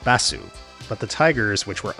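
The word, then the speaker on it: バス: His name would be transcribed in Japanese as this, the Japanese word for bus, pronounced Bassu.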